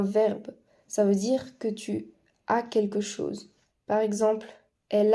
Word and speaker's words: tu as: donc ce sera j'ai tu a avec un S qui ne se prononce pas il elle on a